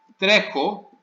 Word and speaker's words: τρέχω: Τρέχω, to run, also the stress is on the stem.